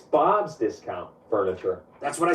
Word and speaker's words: Bob's Discount Furniture: It's Bob's Discount Furniture. That's what I said. Bob's Discount Furniture. You're putting the emphasis on the wrong syllable. It's Bob's Discount Furniture, as in get Bob's discount on furniture.